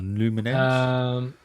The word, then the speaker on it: Lumines: I guess that's pronounced Lumens or Lumines.